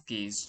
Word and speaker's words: gauge: Some few people also pronounce it as gauge chart, so I'll be pronouncing it as gauge chart, not as Gauss chart.